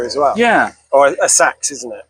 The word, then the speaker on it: Seax: It's spelt Seax, and I don't possibly know. pronounced Sax. Somebody out there knows how to say it. I'm not sure I do. They're probably in the grave 900 years ago. Yeah, I actually use both. Sax and Seax.